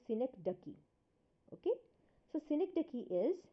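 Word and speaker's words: synecdoche: we have synector key now please do see the pronunciation it's synec ducky okay so Synergy key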